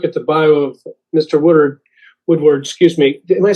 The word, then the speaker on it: Woodard: Woodward, excuse me, am I saying it right? Yeah, Woodward.